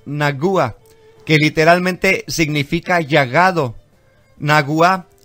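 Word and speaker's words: נגוע: que literalmente significa llagado naguá que es acento en la ua comparte la misma raíz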